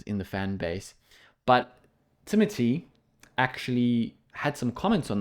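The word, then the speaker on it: Timothée: know headline actors like Timothy Shalom or timate as he says his name is pronounced which I guess we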